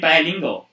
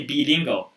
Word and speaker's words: bilingual: i'm not remember here i think this is bilingual not to say be lingo but then i think